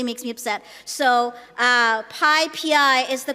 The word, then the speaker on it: PyPI: It is pi pi, not pi pi, not pp. Some Americans say pp and it really makes me upset. So uh Pippi is the correct way to pronounce it.